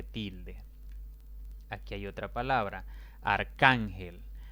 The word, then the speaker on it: arcángel: Arcángel es una palabra de 3 sílabas. La mayor intensidad recae en la penúltima sílaba, contando de izquierda a derecha. Y como no termina ni en N, ni en S, ni en vocal, sino más bien en otra consonante, en este caso la L, debo colocarle tilde.